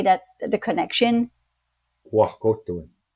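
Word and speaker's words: wahkohtowin: So I don't know how to pronounce it, Dwayne, but how do you say, why, the word to say that the connection, Wakotoin. Wakotoin.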